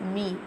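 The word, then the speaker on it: ميم: Now we're telling the pronunciation of Meme. How we'll pronounce the Meme? Meme pronounced from the dry part of both lips, like this.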